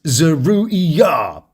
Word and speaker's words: Zeruiah: Except Zeruiah because Zeruiah, yeah, it's sort of a mix of zero and diarrhea. Zeruiah. It's actually pronounced Zeruiah.